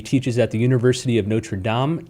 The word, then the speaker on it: Notre Dame: at the university of notre dame notre dame i should say and he has a new book yeah the french pronunciation there he's a new